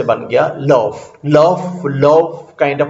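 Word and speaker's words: l'œuf: उसका प्रोनाउंसिएशन ये LOEUF बन जाएगा, जिसका pronunciation something like this is love, जिसका प्रोनाउंसिएशन लव है.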